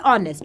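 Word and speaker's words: honest: क्या हो गया जैसे ऑनेस्ट वर्ड क्या हो गया तुम्हारे पास में अरे जी ऑनेस्ट हो गया आर हो गया ठीक है ये कुछ ऐसे वर्ड्स है जहां पे एच साइलेंट रहता है बोलने पे क्या बोल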